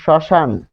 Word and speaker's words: শ্মশান: শব্দের আদিতে বসলে মফলা অনুচ্চারিত থাকে, যেমন শ্মশান।